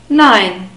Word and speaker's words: nein: again II and I but we pronounce it I nine we have the word